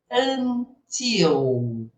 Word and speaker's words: until: Só chamar sua atenção que a letra L no inglês, eu costumo brincar que ela é pronunciada como um L, porque no português a gente pronuncia a letra L como se fosse um. Não é? Eu sou o quê? Vilma. Vilma. Vilma. Porque lá eles falam assim: Velma. Vma, né? É bem alongado.